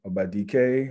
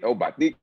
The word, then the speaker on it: Obadike: Obi Obadike. How are you doing, gentlemen? Wow. What's going on, Tony? He hit the enunciate Obadike, man. He announced it just to how it's supposed to be pronounced, man.